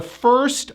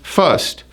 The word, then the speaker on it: first: Now, most of my clients would pronounce this as first, and it's not clear. It needs to be a tight sound, lips forward, up, down. Fur. So now it's first.